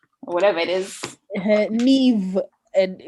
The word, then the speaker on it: Niamh: these like Russian names that we learn to pronounce. Whatever it is. Neve, and like when it's called Niamh, and you know how to spell it.